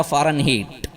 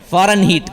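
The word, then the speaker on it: Fahrenheit: ہیٹ تھا۔ اور یہ ہیٹ وہ نہیں ہے جو HEAT ہیٹ گرمی سے ہوتا ہے، وہ ہیٹ نہیں ہے، یہ HEIT ہے، اس کا نام ہے اصل میں فارن ہیٹ کا۔ تو اس کے تلفظ کے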